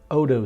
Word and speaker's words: Otto: It runs on both the Atkinson cycle and the Otto cycle, or the Otto cycle, however you want to pronounce that. It's spelled O-T-T-O.